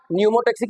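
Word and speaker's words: pneumotaxic: Area और न्यूमोटक्सिक area P silent है इसमें और मेडुल्मिसिक एरिया का काम क्या था?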